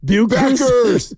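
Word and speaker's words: Bueckers: Suddenly we're Paige, how do you say it? Buers. We're suddenly all about Paige Beckers. Buers. Buers. Totally.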